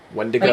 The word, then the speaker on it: Wendigo: Is that what wendigo? Wendigo? Wendigo, I think is how they pronounced it.